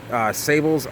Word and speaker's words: sabal: So sabals are, now in the East Coast we call them sabals.